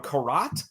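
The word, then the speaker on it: garrote: All right, this happens the next day, and Jeff appears, and he's got himself I don't know what it's called, a karat, I believe is pronounced.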